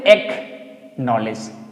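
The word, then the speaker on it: acknowledge: तो बोलेंगे एक नॉलेज। एकनॉलेज एकनॉलेज ठीक है यानी कि सी को हम प्रोनाउंसिएट नहीं करेंगे छोड़ देंगे एक्वाइट एक्वाइट सी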